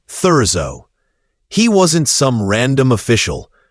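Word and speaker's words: Thurzó: Though much of it lies in ruins, György Thurzo, the man who would hunt her, is pronounced György Thurzo.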